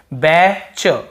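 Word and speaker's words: batch: नहीं पढ़ रहे हैं बैच बैच यहां पर भी टी को नहीं पढ़ रहे हैं यानी कि यदि लास्ट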